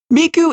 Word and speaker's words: Miku: name Miku you weeb miku's name is the word for three but using a a different pronunciation system to the girls previously mentioned icha and Nino use one and two from the Oni way of pronunciation the Oni way of pronouncing three is s but miku's name uses the kunyomi pronunciation which is me the second part of